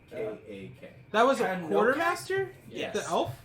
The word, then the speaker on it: Tanokak: Tanok Akak? It's TANOKAK. It's all one word. Tanokayak. Wait. Tanokak. Yes. Tanokak? Yeah. Oh, Okay. Tanokak. Yeah. I was like, where is he getting these extra syllables?